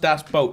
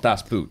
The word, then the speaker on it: Das Boot: so you say but obviously not so it's pronounced Dash boat not Dash boot Dash boat yeah and so that's his point